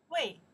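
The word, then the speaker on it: 喂: Wei. Wei. Hello? Wei. The sound's up, right? Wei. The answer, hello. Chinese. Wei. This means that's carried out to pronounce. Wei. Wei. Hello? Hello. The second tone.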